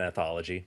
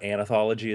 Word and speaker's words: anthology: involved in editing an anthology by the way well probably knowing how to pronounce it Anthology not anology as I like to say yes because there is no second a yeah I I think